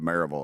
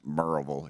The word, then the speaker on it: Maryville: It's pronounced Maryville if you're from there, but you would pronounce it Maryville, Maryville.